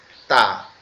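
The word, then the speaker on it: ت: উচ্চারিত হবে এটা এই তা টা আমরা কোথা থেকে উচ্চারণ করব তা টা আমাদের জিহ্বা উপরের যে দুইটা দাঁত ছোটবেলায় সবার আগে যে দুইটা দাঁত উঠে উপরে এই দুইটা দাঁতের গোড়ায় লাগবে জিহ্বার আগাটা কোথায় লাগবে উপরের দুই দাঁতের গোড়া সঙ্গে লাগবে লেগে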